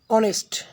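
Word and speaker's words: honest: যেমন অনেস্ট, এখানে এইচ আছে, এইচটা উচ্চারিত না হয় ও, অনেস্ট অ এর মতো উচ্চারিত হয়েছে, তাই এর পূর্বে আমরা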